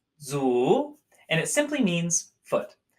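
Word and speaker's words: 足: so our first character today foot this is pronounced Zhu Zhu Zhu and it simply means foot the part on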